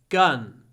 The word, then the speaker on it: gun: in the word gun the longest sound is the n you're gun gun gun you need to hold the N at the end gun gun next one I